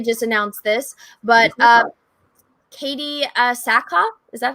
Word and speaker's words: Sackhoff: And then also they just announced this, but Katie Sackhoff, is that how you say it?